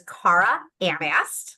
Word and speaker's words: Cara Anast: The way to pronounce her name is Cara Anast.